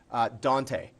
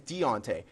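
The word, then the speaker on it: Diontae: I heard it pronounced Dante. It's not Dante, it's Deontay.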